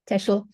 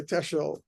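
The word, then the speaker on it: Teschl: you pronounce that correctly tesel tesel okay it's an L at the end okay tesel uh she's the professor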